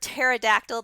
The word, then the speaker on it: pterodactyl: All right, so much like the word pterodactyl, the P is silent, so that's how you say that, pnictogen.